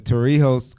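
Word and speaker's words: Torrijos: Did I pronounce that right? The Torio the Toriho Carter treaty took over the Hey Banu Verilla Treaty.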